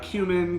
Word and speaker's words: cumin: hate how you say cumin. Cumin. Because you say it like that. Cumin. And I hate it. Every time you say it, I'm like, it's cumin. It's cumin. Cumin. It sounds like human.